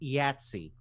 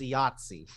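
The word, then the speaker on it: IATSE: can pronounce the acronym is it iatsi or is it yatzy i i heard ayatsi i've heard both in chicago apparently it's yatzy but yeah i can see that in the east coast it's yahtzee i pronounce it ayatsi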